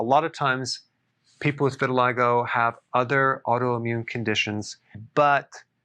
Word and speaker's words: vitiligo: i want to talk about vitiligo vitiligo that's how it's pronounced what is it it's a deep pigmentation